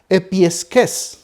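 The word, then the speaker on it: ἐπιεικής: vamos a encontrar que la palabra se pronuncia epiques que significa directamente que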